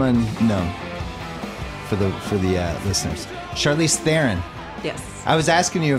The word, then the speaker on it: Theron: I mean, look, the bottom line is the real pronunciation of my name is so far off from both of those. What is it? It's Theron. Oh. Yeah. The South African pronunciation.